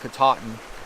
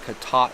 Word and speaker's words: Katahdin: mountain which is Mount Katahdin I think that's how they pronounce it here locally it's Mount katate pne's ka ta h